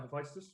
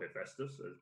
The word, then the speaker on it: Hephaestus: find some squirrels about hephaestus or hephaestus depending on the individual pronunciations there are both legitimate ways of saying it okay pronounced it but